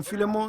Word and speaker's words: Philémon: Donc, quelqu'un a dit là-bas au fond, Philémon, c'est qui je pense vraiment la bonne prononciation.